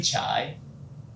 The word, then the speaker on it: Chaii: opened the Google translate it just pronounced like chai or not or chai and it's fun fact to play with my name when I'm introdu myself to my clients oh my name is chai what is chai chai